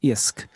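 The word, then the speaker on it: iasc: But Hiskadi, that word there, IOSC, kind of to me sounds like the word in Irish for fish, which is I-A-S-C, isk.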